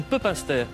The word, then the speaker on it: Pepinster: De Pepinster, on dit Pepinster.